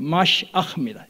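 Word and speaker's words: משיח: 이 그리스도를 뜻하는 히브리어가 바로 히브리어 그대로 발음하면 마시아흐입니다.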